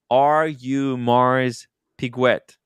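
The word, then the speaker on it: Audemars Piguet: EDC uh explains it to us that it's pronounced are you Mars piguet are you Mars piguet there you go very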